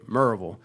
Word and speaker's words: Maryville: So, anybody who's not local, uh it's spelled Maryville, but locals say Murville.